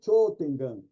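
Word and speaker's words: 頂天眼: Na realidade, quando tem esse O, U seguido, é Cho, prolonga o som, Cho Tengan. Não precisa falar o U, só prolonga o som do O, Cho Tengan, que é o Miracel ou celestial.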